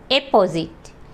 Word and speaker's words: apposite: और दोनों को प्रोनाउंस भी अलग-अलग तरीके से किया जाता है। यह पहला शब्द है हमारे पास ए पी पी ओ एस आई टी ई अपोजिट।